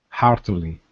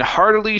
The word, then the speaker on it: heartily: Heartily. Okay, and heartily shook his hand. And heartily shook his hand. Okay, pronounce the H there instead of heartily.